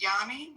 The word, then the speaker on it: Yanni: Anyway, welcome in um Johnny. Oh, you say your name is pronounced Yanni.